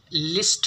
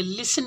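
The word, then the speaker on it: listen: है तीसरा इंटरनेट हमारा इसमें साइलेंट है तो इसको हम लिस्ट नहीं बोलेंगे लिसन बोलेंगे यानी की इसका मीनिंग है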